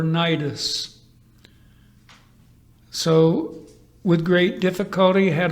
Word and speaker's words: Cnidus: Technically, in the Koine Greek, Knidos, commonly pronounced, however, Cnidus.